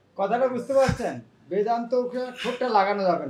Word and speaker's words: বেদান্ত: অনেকেরা বেদান্ত বলে, বেদান্ত মানে শুনতে কেমন লাগে? যার দাঁত নেই। এটা কি ঠিক উচ্চারণ? কিভাবে বলা উচিত? বেদান্ত। বেদান্ত মানে দন্ত ওষ্ঠ, উপরে দাঁত আর নিচের, হ্যাঁ ওষ্ঠ, अधर ओष्ठ।